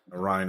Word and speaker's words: Ryn: Ryan is spelled R-Y-N.